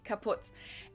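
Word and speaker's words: kaputt: moved to the us we spell it with two T's in Germany but we pronounce it the same way kaput and it basically has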